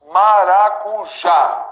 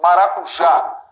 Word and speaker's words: maracujá: Sílaba tônica dessas palavras que eu acabei de dividir, né, é sempre a última. Nota. Maracujá. Isso aqui é mais forte. Maracujá.